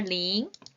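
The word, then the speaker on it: 零: 그렇다면 숫자 2는 R 숫자 0은요 자 여자들 링귀걸이 떠오르시면 돼요 여자들 링귀걸이가 동그랗게 생겼죠 발음이 똑같습니다 같이 읽을게요 링 링 그래서 자 그 다음에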